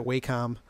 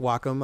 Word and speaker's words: Wacom: used to pronounce that waycom w o m but but uh uh I understand it's pronounced Wacom I believe it's a Japanese company but I use an